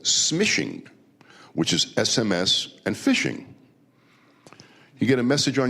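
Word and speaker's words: phishing: And then you have fishing. And and the fishing that these people do is called P. It's spelled P H I S H I N G.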